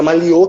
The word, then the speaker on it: Maliô: Eu vi que eu não tenho uma dificuldade de pronúncia, mas é Maliô que se fala.